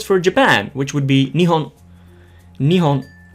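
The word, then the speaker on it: 日本: The same goes for Japan, which would be Nihon Nionhon. Nihon.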